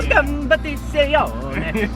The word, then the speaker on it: Competizione: competizione. You almost have to say it Italian. Yes. For it to, competizione.